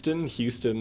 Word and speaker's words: Houston: It's at P Houston, like Houston, Texas, or Gotcha. Houston, BC.